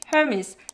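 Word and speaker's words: Hermès: If you read it in French, it's Hermes. But I'm not French, and I can't pronounce my throat, so I'll go back to Hermes.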